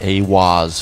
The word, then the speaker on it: eihwaz: Giza octagram and channeled the divinity eihwaz pronounced a woz furthering the immutable connection